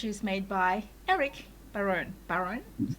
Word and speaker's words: Barone: Barone, is how you say it.